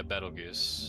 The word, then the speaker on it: Betelgeuse: Is that how you pronounce it? Yeah, Betelgeuse. Betelgeuse on Planet Escar.